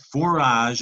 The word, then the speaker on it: forage: a French root forage and that silent e without it that says for agate that's a hard G you need that soft cheese saw G just a general joint forage and that means